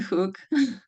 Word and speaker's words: hook: So the spelling is throwing you off, right? Because you see the double O. Yeah. And then, so then our Exactly. brain says, oh, well, then because of food, then, yeah. So then we have to teach our brain that it's not that, right?